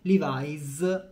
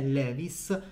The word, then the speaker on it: Levi's: Apro e chiudo parentesi livis è il nome corretto del Brand la pronuncia non è Levis Ma noi in Italia